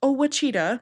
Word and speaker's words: Ouachita: It's spelled Ouachita, and it's not Ouachita, it is Ouachita.